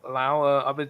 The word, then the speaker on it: Lau: Talking about Lau, I've just been told from Viper that it's Laui. He pronounced it W at the end apparently. Oh really, Laui?